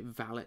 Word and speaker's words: valet: I should pronounce it the upper class British way, Valet secure.